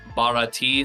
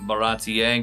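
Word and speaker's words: Baratie: arcs of baratti yeah I was calling it barti so baratti good to know now you could I'm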